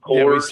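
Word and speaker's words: Kohrs: It's Coors, K-O-H-R-S. I think it's pronounced Coors.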